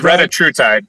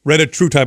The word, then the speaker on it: retatrutide: I can't pronounce the name. It says you're a pharmacist. You probably know the name. It's retatrutide. Retatrutide.